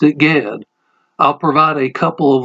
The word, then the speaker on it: Ged: My professor told us that it is pronounced the same as Jed with a J.